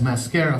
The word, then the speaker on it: Mascara: It's called Mascara Fighters, but you read it as Mascara Fighters because it's starring Spanish characters.